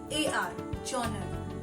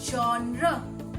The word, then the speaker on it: genre: Where it is mispronounced as genre because of gen, G-E-N, gen, E-R, or genre, that is J-O-N-A-R, genre. But it must be pronounced as genre, genre.